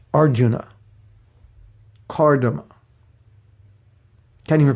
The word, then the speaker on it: Arjuna: It's not Arjuna, it's Arjuna.